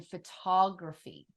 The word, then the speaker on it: photography: right and the O think about how you're pronouncing the O in photograph versus in photography phod that reduced vowel